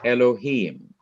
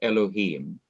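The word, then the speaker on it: אלהים: know it's there somewhere that shape on the last syllable of elohim the syllable heme that indicates again that you are to do what to that syllable emphasize that syllable yes sir good now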